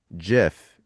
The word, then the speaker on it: GIF: Like the Jif peanut is butter.